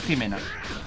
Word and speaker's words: Ximena: Porque se pronuncia como si fuera con J, o sea, sí, o sea, es Ximena.